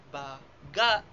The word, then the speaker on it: baga: Halimbawa na lamang ang larawan na makikita natin ito ay tumutukoy sa lsles at ang tamang bigkas nito ay baga baga na nilalapatan ng diin sa ikalawang pantig.